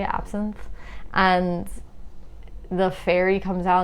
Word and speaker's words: absinthe: uh something else i was getting towards was moulin rouge you know when they're drinking the absinthe is how you say absinthe and the fairy comes out and they can